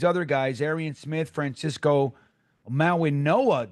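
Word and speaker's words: Mauigoa: guys, Arian Smith, Francisco Minoa, Dom is saying that that G is pronounced with an N.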